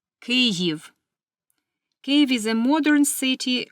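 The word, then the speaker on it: Kyiv: the capital of Ukraine please pay attention to the spelling and pronunciation cive cave is a modern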